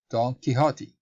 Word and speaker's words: Don Quixote: Don Quixote, right? That's the right pronunciation.